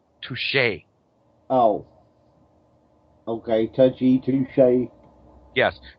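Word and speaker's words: touché: to them either way touy no no no that that's pronounced touche oh okay toui touche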